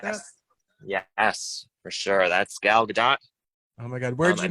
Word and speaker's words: Gal Gadot: You want to say Gal Gadot, but the T is actually not silent. Gal Gadot. Thank you.